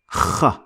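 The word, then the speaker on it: خ: Kh. Now, the letter Kh is exactly the same as the Scottish CH, and it is also pronounced as Kh too, like the word loch.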